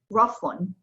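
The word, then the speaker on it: رفٌّ: Rafun.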